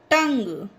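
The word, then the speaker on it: tongue: टंग, इसमें देखिए you silent है, पढ़ा था ना, यू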